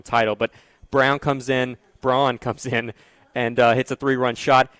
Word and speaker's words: Braun: Uh Brown, I'm I'm calling it Brown because of Christian Brown, the basketball player from Kansas, who I've gotten used to mispronouncing, uh B A R U N, which is Braun, but uh getting used to change that over to Brown.